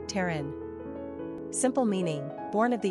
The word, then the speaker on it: Taryn: Pronunciation, T-A-H-R-N, Taryn.